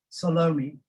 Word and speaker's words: Salome: democracy and people like Salome that's incidentally a South African pronunciation of her name people like her still